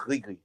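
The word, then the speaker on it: gris-gris: I think it's separate, and it's pronounced Grigri. I think the S is silent, if I'm not mistaken, because it's from Francophone Africa, even though they're using Arabic.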